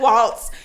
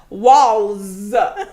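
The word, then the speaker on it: Walz: about to call him Tim Waltz Tim Walls no T the tea is silent I play Tim Walls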